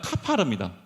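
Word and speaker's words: כָּפַר: 그리고 역청을 칠하다라는 그 동사는 카파르입니다. 근데 여러분, 이제 여러분들이 이제 뭐 신학을 안 하셨으니까 신학대원에서 배우는데요. 이 히브리어는 모음만 있어요. 자음이 없습니다. 그러니까 코페르, 카파르가 같은 발음이에요.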